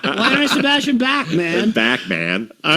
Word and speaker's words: Bachman: the most Canadian thing about this is it, in Canada he's pronounced Backman. It is Bachman.